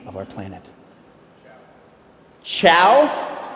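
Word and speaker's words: Chau: Chow? Chow? Like C-H-O-W. S-H-O-W. It's C-H-A-U.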